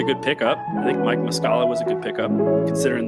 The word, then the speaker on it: Muscala: pickup I think Mike muscala was a good pickup considering the money Mark mascara um mascala mascara are you saying mascara like like a lady puts on mascara no it's Mike muscala I don't know how